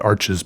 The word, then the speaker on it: Arches: crosseyed when I said arches paper cuz I think maybe it is a French word and it should be pronounced more along the lines of arch or something like that, which is